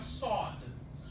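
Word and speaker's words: صاد: Now, many people will tell you, oh, Sod, you don't have that letter in English. It's usually people that don't know English well, or enough English that tell you that, because we have a Viking building material, sod, that Vikings used to build their homes.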